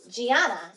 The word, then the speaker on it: Gianna: Gianna is making the J sound. That was soft G.